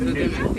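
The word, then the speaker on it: gnu: noise that they make sounds like the word new like n e w but it's spelled g n u and the g is actually silent now over here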